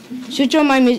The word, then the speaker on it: Suchomimus: Suchomimus is pronounced Suchomimus.